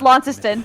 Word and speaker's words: Launceston: Yes, Launceston.